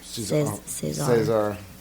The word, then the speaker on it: César: And we're not French, so we're not saying it correctly, because I think it's César. César.